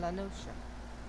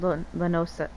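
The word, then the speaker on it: La Noscea: Oh, so it is pronounced Lanosha. I've been saying Lanosa. Lanosa? Lanosia? But yeah, I've been saying Lanosia, but it's Lanosha. Because Nosha is just ocean scrambled with an S in it.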